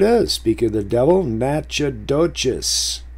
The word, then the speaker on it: Natchitoches: Speak of the devil, Natchitoches. See, but that's pronounced Natchitoches if you're from that territory.